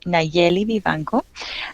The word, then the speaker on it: Nayeli Vivanco: you drew um you did a fine job pronouncing my name but I I'll say it again there it's neli Viano I am a Texican so I was born